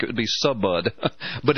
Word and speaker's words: Subud: she was deeply tied to a cult called Subud and it's spelled suu bu u d it looks in in English it would look like it would be Subud but it's pronounced Subud this cult originated guess